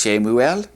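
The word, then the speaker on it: שְׁמוּאֵל: Normally Samuel's name would be pronounced Shemuel, but now we're saying like Samuel.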